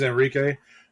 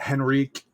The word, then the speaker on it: Enrique: school my name is Enrique or Enrique for those who want to pronounce it properly uh roll the r roll the Arts not roll your Arts yeah so not Enrique not Henrik it's Enrique Enrique Enrique